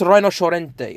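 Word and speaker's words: Rinoceronte: want to pronounce it, it's pronounced Rhinocerente, okay?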